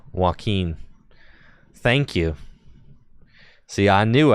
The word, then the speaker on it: Joaquin: Is it Joaquin? Thank you. Oh, like Joaquin Phoenix. Yup, you got it. It is. You're correct, Joaquin.